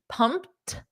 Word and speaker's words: pumped: positive emotion so you can say he is pumped so notice that Eed is pronounced as a soft T pumped now you can say pumped or pumped up